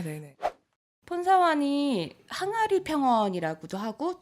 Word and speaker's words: 폰사완: 우선 폰사완 폰사반이라고도 이제 영어로 표기하다 보니까 발음이 좀 달라지는데요. 네. 보통 이제 현지에선 폰사완이라고 해요.